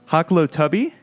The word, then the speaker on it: Hoklotubbe: week to have on my guest uh haklow tubby did I do it yes that's it we